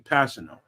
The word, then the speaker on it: Kpassagnon: That's how you pronounce his name, Kpassagnon.